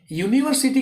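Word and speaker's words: university: यूनिवर्सिटी का जो यू है उसका प्रोनाउंसिएशन यू, दैट मीन्स कि उसको हम य बोलते हैं।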